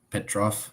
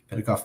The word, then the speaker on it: Petikov: Petrov. I can't butcher the name. Petikov. Is that what it is? Yes, Petikov. Petikov Media.